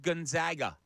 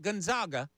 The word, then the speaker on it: Gonzaga: half from number five Gonzaga where are you it's not Gonzaga it is Gonzaga they are the zags well no matter how